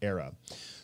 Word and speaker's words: AERA: catalytic endogenous reflective architecture which is abbreviated aera and you pronounce era so with all of